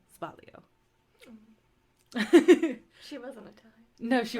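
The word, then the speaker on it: sbagliato: with Prosecco in it you don't say spokliato it's with a z and the g Asylum it's said like spalio she wasn't Italian no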